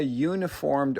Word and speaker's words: uniformed: Here we say a uniformed officer. This word begins with the Y sound, and that is a consonant.